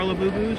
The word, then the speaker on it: Labubu: It's now the Squish have been taken over by the Labubus. Or you're supposed to say it like Labubu, like that, but this